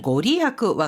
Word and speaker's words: ご利益: 그런데요, 이 이익이라는 한자를 리야쿠가 아니라 리에키라고 읽었을 때는 진짜 이익이 있다 없다라는 이익을 말합니다. 그래서 여기에서 신불의 그 힘이다. 용한 그런 힘 같은 거 있잖아요. 이럴 때는 고리야쿠와 같이 읽어줘야 됩니다.